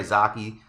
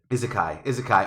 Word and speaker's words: Isekai: It's all like characters that you know from the popular Izake, however you pronounce that word. Fuck me. Isekai.